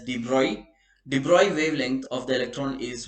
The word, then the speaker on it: de Broglie: If the de Broglie is actually pronounced as de Broglie wavelength of the electron